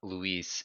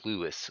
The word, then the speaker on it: Lewis: the this name wrong it's not Louise it's Lewis Lewis is one of the